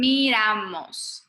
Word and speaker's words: miramos: And then miramos, the pronunciation. Miramos. No, so the R is light. Miramos. Kind of slip over.